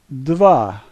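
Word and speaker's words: дева: a sounds like a so this word is Deva the first letter is a D sound the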